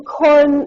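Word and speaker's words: Coren: My name is Corin. That's um pronounced it's C O R E N, but it's pronounced corn like corn on the cob.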